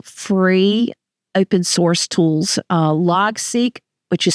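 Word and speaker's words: Logseq: some really cool free open- source tools uh log seek which is spelled l g SE e q and something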